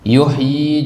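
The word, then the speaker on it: يحيي: ayat l malah en yuhyi juga begitu Jadi kalau kita ketemu kata yuhyi di dalam al-qur'an itu bacanya panjang meskipun penulisannya pendek Kenapa Dar dari mana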